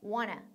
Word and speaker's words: wanna: 그게 1단계고 2단계는 want to를 좀 더 빨리 해서 wanna. wanna처럼 발음하는 거예요.